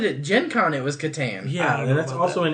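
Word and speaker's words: Catan: before uh just this last weekend i played katan for the first time and i don't think anybody else here is playing i don't know if that's how you pronounce it yeah it's katan i've always no i've i watched videos i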